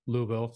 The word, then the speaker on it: Louisville: when I came down I tried to explain people like it's a one-syllable town um I don't want to put too many syllables in there you'll know I'm a foreigner